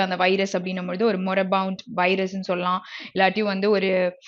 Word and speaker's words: moribund: Okay, so next one இஸ் மொரிபவுண்ட். Okay, so இது எப்படி pronounce பண்ணா மொரபவுண்ட் ஓகேயா.